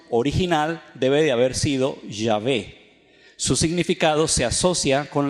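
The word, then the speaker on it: Yahweh: h ellos dicen que la pronunciación más cercana y acertada es llave se puede decir ya ve pero realmente está hecha intermedia no existe en el español entonces nosotros podemos escribirlo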